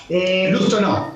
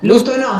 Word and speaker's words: Lostonó: pronuncié bien tu apellido, ¿no? Sí. Lostonó. Lostonó, sí. Lostonó, perfecto. Origen francés. Sí, francés.